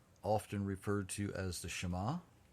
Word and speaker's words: Shema: referred to as the shema not the shima okay it's hebrew folks pronounce it like hebrew um this is one